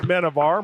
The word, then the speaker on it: Menjivar: Correction on my mispronunciation. It is Menjivar, my mistake.